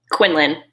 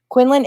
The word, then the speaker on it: Quindlen: How do you pronounce your last name? Quindlen. Quindlen, it is Quindlen.